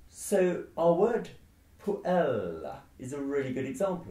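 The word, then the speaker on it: puella: creates a long syllable the rule of stress tells us that if the penultimate syllable of a latin word is long you stress it and if it's short you stress the one before so our word por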